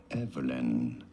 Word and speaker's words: Evelyn: Once you know you do want to stress on the first syllable, Evelyn.